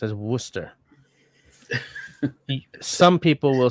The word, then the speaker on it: Worcester: of all it's Worcester sauce that's how it's pronounced as Worster some people will say Worcester sh but like Worchester Shire no no it's Worcester or maybe Worcester sure